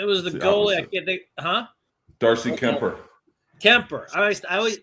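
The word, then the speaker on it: Kuemper: the goalie huh darcy kemper temper i always it's kemper but it's spelled weird yeah it's spelled e r comp or something like that business decision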